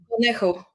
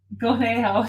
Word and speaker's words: Conejo: I just don't want to blast the Yeah, Conejo. Gonejo.